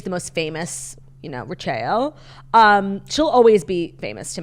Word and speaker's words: Rachael: Rachael, yeah. And as somebody who is so deeply connected to, like, phonetics and language, like, her name being Rachael, pronounced Rachel, which, like, it's not that crazy.